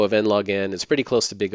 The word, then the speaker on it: n log n: It's just pronounced n log n time.